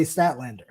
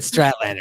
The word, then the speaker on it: Statlander: But it took him 7 months to say Statlander. Well, that was kind of fun, though. Ben said it first. You said Stratlander, so I was just following.